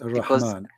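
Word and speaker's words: الرحمن: You know what I've learned is when you say Ar-Rahman and you say it like with the Ar-Rahman, this is like with the alif, then you say it like long, you know. Right, Ar-Rahman.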